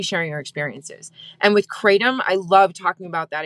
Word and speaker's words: Kratom: And sometimes I'll spell it out, Kratom, or I'll say it rhymes with schmatum and starts with a K.